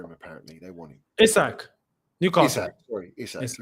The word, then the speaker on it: Isak: Isak. Newcastle. Isak. Sorry, Isak. Is that how you say it? Isak, not Isaac? Isak. Yeah. I said Isaac at first. Apparently it's Isak, but Isak is decent.